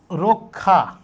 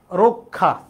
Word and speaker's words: রক্ষা: এরপরেযে আছে তাহলে র সাথে যে আছে সে উচ্চারণটা এর মত হবে। তাইলে হবে কি? রক্ষা। রক্ষা।